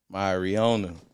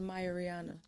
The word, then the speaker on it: Mia Reona: gentlemen we have none other than the talented my Rihanna you dig what I'm saying yes Lord yes it's actually pronounced Maya Rihanna yes tell me about that why is that